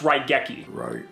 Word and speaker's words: Raigeki: It's pronounced Raigeki. Raigeki.